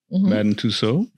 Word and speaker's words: Madame Tussauds: Madame Tussauds. Madame Tussauds.